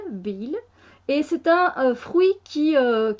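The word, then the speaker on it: bael: Et ça s'appelle du bil. Du bil, ça s'écrit B-A-E-L, bil.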